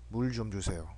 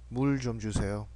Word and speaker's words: 물 좀 주세요: When paired with only one vowel, the circle consonant is silent. Okay, so only the vowel is spoken.